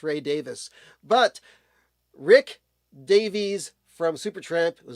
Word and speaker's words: Ray Davies: And uh, no, it's not uh, Rick Rick Davis because I know that um, Ray Davis from the Kinks, everybody pronounces his name Ray Davies and it's not that. It's Ray Davis, but Rick Davies from